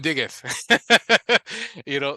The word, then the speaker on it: Diggeth: Diggeth. Diggeth. Oh yeah. Diggeth. Yeah. Ah, okay, okay. It's like a play on words, like dig it. I dig it. Diggeth.